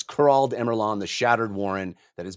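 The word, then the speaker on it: Kurald Emurlahn: that what it is it's not star I said it wrong it's kurald emeron the shattered Warren that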